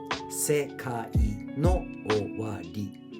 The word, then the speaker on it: SEKAI NO OWARI: SEKAI NO OWARI, right? So SEKA, S-E-K-A. S-E is one sound syllable. Se, K-A, ka. I is one of the 5, A-E-I-O-U, single vowel sound. So SEKAI NO OWARI.